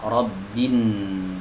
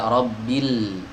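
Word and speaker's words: رب الناس: Ya, rabbin. Jadi langsung masuk ke huruf nun. Tidak rabbil, lamnya tidak dibaca, digugurkan dalam pelafalan.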